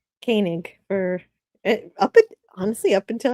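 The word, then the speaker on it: Koenig: See, it's kind of it's kind of interesting that uh it's his Walter's last name is Kanig and everybody calls him Koig, but George's last name is Teay, but everyone calls him Teai.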